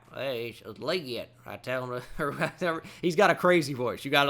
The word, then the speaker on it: Legette: uh draft interview because Roger gell called him liette on the stage and and then they interviewed him like what do you think about Roger Goodell saying your name he's like he said it right hey Legette I tell